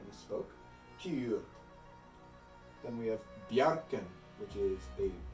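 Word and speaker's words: Bjarkan: For the J in Bjarken, it is a Y sound, like ya, ya. And to say it with a J is a bit odd because it sounds like Bajarken.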